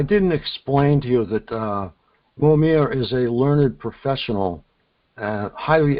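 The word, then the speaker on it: Mojmír: His name is Mojmir, I believe. Is that correct? You don't pronounce it? Yeah, Mojmir.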